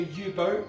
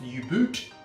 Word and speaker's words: U-boat: channel right here now this here is the u-boat sometimes pronounced u-boot but this is a twist on the jager